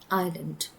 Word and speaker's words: island: We never say is land because the S is supposed to be silent. That's why we pronounce that as island.